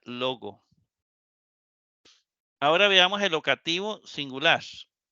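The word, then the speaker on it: λόγῳ: Y ya la iota no se va a pronunciar. Entonces aquí se dice, aquí se pronuncia logo.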